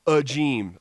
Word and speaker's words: Agim: three three oh nine last names pronounced a g m-- although it's spelled a G I M he led the Razorbacks